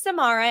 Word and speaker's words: Samara: You know, Forbes, my name is Samara. It rhymes with Tamara, but I'll get it to you today.